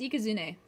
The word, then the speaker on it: Ikazune: like specific characters, so it would be I, Ka, Zu, and Ne. And you put those together, you get Ikazune or Ikazune. I just kind of pronounce it with my English accent, because I mean I'm English, you know, American, crisp. Zuelong. Yeah, it's kind of pronounced like a W. Hey, even Eat gets it. Yeah, it's Ikazune. And I will stand by that forever.